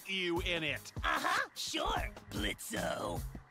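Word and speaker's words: Blitzø: in it uh-huh sure blitzo the O is silent now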